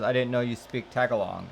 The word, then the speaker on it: Tagalog: Peter Popina says, I didn't know you speak Tagalog. It's actually pronounced Tagalog. If you take out the N, that is how you spell it.